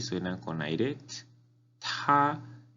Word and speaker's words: 他: Él, ta. La T suena con aire. Ta es el primer tono, entonces es como si estuviera cantando una nota alta.